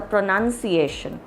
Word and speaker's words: pronunciation: commonly mispronounce is pronunciation now see if the word is written as pronunciation but you when you say pronouns you say pronouns but when you say the word with a t i o n then it is a pronunciation okay so instead of a pronunciation it is a pronunciation and otherwise when you say pronouns then you will say pronoun so pronunciations and pronouns so how you pronounce